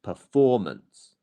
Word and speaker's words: performance: the next syllable after it is the stress syllable so performance not performance or performance it's performance if that makes sense for you lovely well